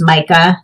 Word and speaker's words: Michael: And I've also saw that his name is pronounced Micah, so he didn't know where his wife was.